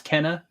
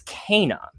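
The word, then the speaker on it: Kena: it turns out it's kana that's how she pronounced it in the game is kana so i'm going with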